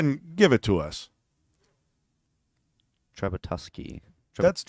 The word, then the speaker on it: Trzebiatowski: It's like it almost looked like, Yeah. but it's Towski.